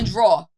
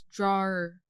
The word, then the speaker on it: drawer: It's like people are like, open the drawer. But it's drawer. And they'll spell it, it's drawer. Drawer.